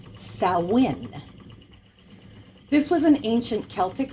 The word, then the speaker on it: Samhain: roots in samhain as it's spelt but it's pronounced salwin this was an ancient celtic celebration at the